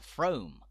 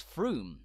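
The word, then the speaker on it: Frome: driver that you'd like a ticket to throme or to Belvoir only to be swiftly told it's Froome or it's Beaver believe me this has happened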